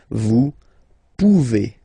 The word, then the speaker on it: pouvez: A Z like that. Okay? Remember you pronounce it E. Okay? Vous pouvez.